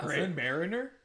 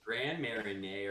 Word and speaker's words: Grand Marnier: Grand Mariner. No, it's Grand Marnier or something like that because that's how Alexa's